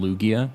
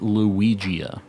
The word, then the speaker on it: Lugia: still isn't but uh I called it luigia because I thought like Lugia sounded gross like a loogie like kind